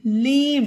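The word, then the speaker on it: lame: नहीं होगा सेम ये ई का कोई इसम उच्चारण नहीं है एल ए एम ई लेम इसे लेम पढ़ा जाएगा लेम पढ़ना गलत होगा उसी तरह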